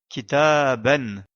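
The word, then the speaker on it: كتابًا: le son n n kita à ben la lettre alif n'est pas prononcée car elle sert uniquement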